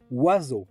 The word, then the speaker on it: oiseau: Oiseau is a word of which we do not pronounce any of the letters that compose it. O plus I becomes wa, E plus A plus U becomes O, the X is silent,